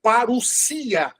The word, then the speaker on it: parousia: Por exemplo, a palavra parousia. Escreve-se parousia, mas lê-se parousia, porque o ômicron e o Y se torna um.